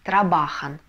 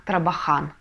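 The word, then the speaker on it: trabajan: слог Да например слово они работают будет читаться как рабахан а очень часто читают как тарабахан Да но это неправильно инфинитив трабахар но они работают и штробахан потому что заканчивается на читаем с ударением на предпоследний слог то же самое с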